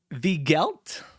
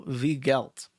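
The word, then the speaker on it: Weigelt: I haven't written down, Enrico Vigelt, I believe is how you would pronounce that. It's spelled W-E-I-G-E-L-T. Enrico Vigelt, I think.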